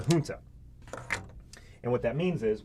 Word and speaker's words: junta: junta which is uh spelled with a soft j you don't need to know that or anything but it's a hunter and what that means